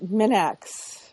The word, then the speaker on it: Minax: want to be rude but it is minx Minx yeah is that all right